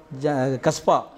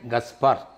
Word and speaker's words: கஸ்பார்: நீங்கள் அந்த பேரை கூட உங்களால் சரியாக உச்சரிக்க முடியல. ஏன்னா கஸ்பா அப்படின்னு ஜனங்க கேட்டாங்க. அது தமிழ் பேராக அதனால கூட என்று கேட்டாங்க. அவர் பேர் வந்து ஃபாதர் ஜெகத் கஸ்பார்.